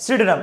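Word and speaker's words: pseudonym: ठीक है, नेक्स्ट, सिडनम, इसका याद रखना, पी साइलेंट होता है।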